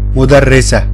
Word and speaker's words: مدرسة: مدرسة. مدرسة. And again, we pronounce R letter like Spanish R. We make it strong. مدرسة.